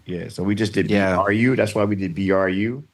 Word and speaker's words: Bru: Yeah, so we just did BRU. That's why we did BRU. And then Brothers was BRU. And it looks like bruh, but it's Bru Brothers.